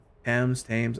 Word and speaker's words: Thames: Thames, I don't know how you pronounce it proper. I know it's a hard T.